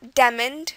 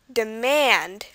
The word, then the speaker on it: demand: China next word demand not demon or demoned it's demand the stress is on theand and the final word